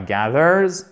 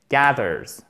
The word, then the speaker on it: gathers: Gathers, qui se prononce Z, mais avec ici un A court et on a notre accent tonique. Ce n'est pas gathers, mais gathers.